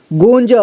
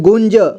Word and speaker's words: गुंज: अगला देखिए junk junk गंज यहां देखिए ग में उ की मात्रा लगा है और अं की मात्रा भी लगा है ठीक है तो यहां गुण पढ़ेंगे इसके बाद ज ठीक है गुंज गुंज अगला जंग जंग